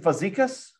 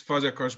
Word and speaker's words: Fazekas: Professor, is it Fazekas? Did I say it right? Actually, it's Fazekas, but I think it's almost for non-Hungarian natives.